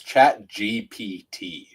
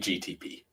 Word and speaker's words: ChatGPT: Just to correct you here, Adam, before the comments get to it, it's ChatGPT. That's what I said. Yeah, you've been saying GTP.